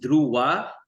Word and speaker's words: Dhruva: yeah it's actually pronounced Dua the the V is silent and the D is enunciated and it's a South